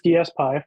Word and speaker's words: DSPy: the dspi repo and it is dspi for those of you that joined late um confirmed by the creator of dspi itself hopefully if you've been